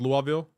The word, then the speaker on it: Louisville: good lovely thanks for asking no problem a Louisville luaveville it's pronounced luaveville lavville lavville lu Wild though.